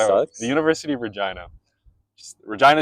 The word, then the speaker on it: Regina: Regina is how you pronounce it. Just so you know, the capital of Saskatchewan is Regina, and that's how you say it. It's not Regina.